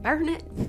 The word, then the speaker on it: Burnet: and i was like burn it by the way that's how they say it burn it burn it